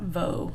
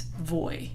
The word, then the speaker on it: voy: its first the B it's not Voe what is it it's boy yo voy never know thrice in